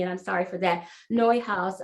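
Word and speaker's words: Neuhaus: i'm sorry for that neue house uh it's spelled uh not quite like it sounds but it's a belgian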